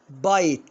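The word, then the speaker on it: bite: ها هنا اقولها بيت؟ لا طبعا بايت يعني يلدغ او يقرص.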